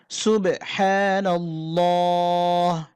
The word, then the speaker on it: সুবহানাল্লাহ: উচ্চারণ করতে হয়েছে এখানে নাল্লাহ বলতে হবে মোটা করে উচ্চারণ করতে হবে সুবেহা সুবহানাল্লাহ। আবারো বলছি সুবহানাল্লাহ।